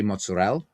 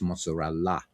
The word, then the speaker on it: mozzarella: Or you'll hear American Italians say mozzarella when it's mozzarella.